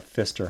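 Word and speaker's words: Pfister: downtown Milwaukee called the Fister Hotel it's spelled PF i s t r some people think it starts with an F but it's PF anyway this is known as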